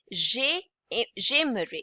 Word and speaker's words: j'aimerais: It's pronounced as AI is pronounced as A, and S at the end is silent, so it would be j'aimerais.